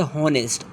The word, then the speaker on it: honest: नॉट आवर आर नॉट ऑनेस्ट ऑनेस्ट is silent honour not honour honour